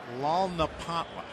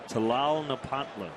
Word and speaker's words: Tlalnepantla: I'm assuming the first T is silent, so I'm going to say Tlalnepantla. You're close. Yeah. The T is not silent. Okay. It's Tlalnepantla.